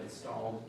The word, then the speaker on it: installed: I think you said installed and extra syllable. Not a big deal. I know what you mean in that moment. But it was installed, 2 syllables.